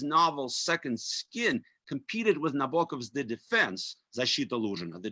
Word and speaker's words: Nabokov: He pronounced Nabokov in a very kind of Anglo-Saxon way, with the second O particularly rounded, like Nabokov.